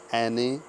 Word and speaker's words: Annette: एने वॉलेन, ANNETTE, इसका pronunciation एने होता है, ANNETTE, एने वॉलेन, VOLLEN, एने वॉलेन।